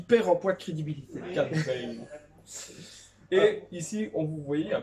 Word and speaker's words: Cad Bane: Oh non, pas Cat Bane, s'il vous plaît, arrête. Arrête. S'il vous plaît, prononcez ça à l'anglais. Sinon, il perd en poids de crédibilité. Cat Bane.